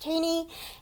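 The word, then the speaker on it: Thoene: This is pronounced Taney, and I remember because my mom read this book like 25 years ago, and she found out it's pronounced Taney, and then if you go on their website, it shows you to pronounce it Taney, and ever since then,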